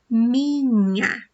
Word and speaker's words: minha: So I'm just gonna tell you that the sound is N, and this word is pronounced minha, okay?